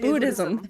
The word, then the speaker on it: Buddhism: Budd Buddhism Buddhism buddh Buddhism thank you I like Buddhism like how do I say this I'm Buddhism things thank you you don't really have to pronounce the h if you don't butcher